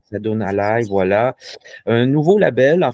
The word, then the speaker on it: Asadun Alay: Est-ce que c'est bien la bonne prononciation? Assadoun Alay, voilà.